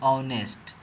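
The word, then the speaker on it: honest: इसको हम लोग पढ़ते हैं ऑनेस्ट। तो देख रहे हैं कि ऑनेस्ट में यह पहला जो लेटर आ रहा है इसका पहला जो अक्षर आ रहा है यहां पर उच्चारण में औ है तो औ हमारा क्या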